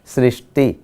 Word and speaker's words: सृष्टि: देखिए, तो यहाँ पर सुख और सूक्ष्म के बाद आएगा सृष्टि, क्योंकि इसके साथ री जुड़ा हुआ है, इसीलिए हम इसका उच्चारण भी करते हैं सृष्टि।